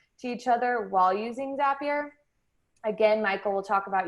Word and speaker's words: Zapier: next we have zapier so zapier actually rhymes with happier which is a fun